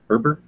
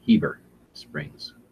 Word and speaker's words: Heber Springs: It's Herber? I don't know. I'm saying it wrong. They told me in the comments down here. Pronounce Heber Springs, not Herber.